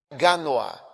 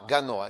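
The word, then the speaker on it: Gagnoa: O próximo é Ganoa. G A G N O A. Ganoa is the correct pronunciation.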